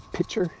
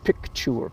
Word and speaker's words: picture: The correct word is picture, P-I-C-T, picture, picture. And I intentionally butcher the word just because I'm nasty, just to make life difficult. And I mispronounce it pitcher, which is like a pitcher of water, or you can spell